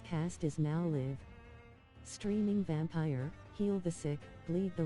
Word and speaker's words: Vampyr: Cyperrat here, as always, coming to you once more from Vampyr, not Vampyr, like the stupid machine keeps saying.